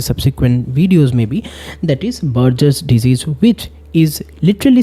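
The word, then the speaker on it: Buerger: the first one is Burger's disease also you can pronounce it at Burgers disease but remember the spelling it is b u e r g e r s because there's another disease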